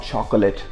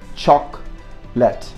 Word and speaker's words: chocolate: it every single day this is not chocolate so again you get that divided into two syllables so that should be one should be chalk and then let it's very simple you lift that simple chalk left chalk let not chocolate chalk let okay here you see